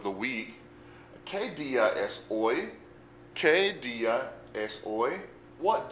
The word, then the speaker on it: hoy: And we have hoy, H-O-Y. Remember that the H is silent when we pronounce it.